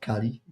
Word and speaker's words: Kali: CLI. just like the god Kali.